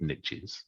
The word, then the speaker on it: niche: got a couple of niches. Yeah. And I can use the American niche. I said this before because it rhymes with rich.